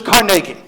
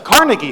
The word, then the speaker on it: Carnegie: fair to assume that he probably pronounced his name much like the people in scotland pronounce that name which is carnegie which the fact that most of us myself included grew up knowing it as carnegie hall shows that perhaps we